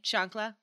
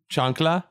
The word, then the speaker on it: chancla: it's called the nuclear chancla how do we pronounce that I'm sorry it's Johnny o'clock Chung CH a and C la chancla chancla yes oh yeah chocolate and C all right